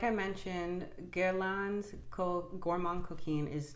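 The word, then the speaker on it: Gourmand Coquin: So I realized I was pronouncing the fragrance name wrong. It's pronounced, this is my best now, Gourmand Couquin. And it means naughty greedy in French.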